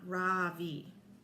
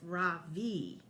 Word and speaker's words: Ravi: bean I say softly my voice quivering just a little my name is not Ravi it's pronounced Ravi she looks at me